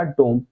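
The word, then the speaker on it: dumb: दिया ये हो गया डोम अब इसे बोलते हैं डम इसमें बी साइलेंट होता है ठीक है तो बी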